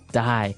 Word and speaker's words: dye: you're dying it okay dye so it's pronounced exactly the same way as you know to die to not live anymore